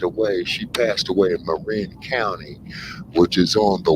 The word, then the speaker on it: Marin: go on the other side there you're in Marine County or Marin County as they call it but it's pronounced uh Marin and that's where finish Shakur